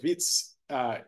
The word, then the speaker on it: Wits: It always gets me, why have a W when it's supposed to be pronounced as a V? So Wits in South Africa.